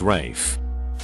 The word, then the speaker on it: Ralph: Being called Ralph but pronouncing it Rafe.